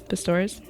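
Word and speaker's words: Pistorius: enter ptor persecution wants 10 years did I pronounce his name right pastores yes Oscar ptor okay the state prosecution requested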